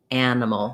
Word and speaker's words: animal: hear more animal more people are trying to do more of an e with this and then ah with this and you want really reduced almost no vowel for those unstressed syllables of animal so lengthening here and